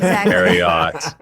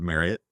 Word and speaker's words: Marriott: Just make sure you pronounce it Marriott. Marriott. That is Megan Radigan, VP of talent acquisition experience. Megan, where can I learn more about Marriott?